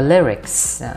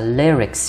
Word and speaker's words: lyrics: Và cuối cùng là lyrics. Lyrics nhớ cách đọc đó là lyrics, chứ không phải là lyric ha. Cái gì bạn hay đọc thành like với ly, nó là lyrics.